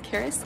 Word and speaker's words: Karis: as a general intro my name is Karis it rhymes with Paris I'm a second year